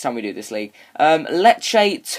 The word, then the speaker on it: Lecce: Lecce. Is that how you say it? Lecce. Yeah, it's Lecce.